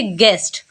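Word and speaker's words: guest: तो क्या पढ़ेंगे गार्ड जैसे गेस्ट यहां पर भी अगर आप ध्यान दें तो यू जो है वो जी के बाद है और वॉवेल से पहले है तो यहां पर भी यू हो जाएगा साइलेंट तो पढ़ेंगे गेस्ट यहां पढ़ते हैं गेस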